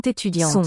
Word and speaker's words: étudiante: U, front vowel with rounded lips. Dian. And the This one is nasalized. T fits now at the end of that syllable. Étudiante. Or you can get a schwa there, starting a new syllable.